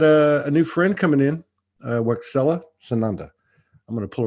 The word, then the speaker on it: Waxela: How do you say it? Waxela. Waxela. So it's like the Spanish language. Yes, it's Mayan. Mayan.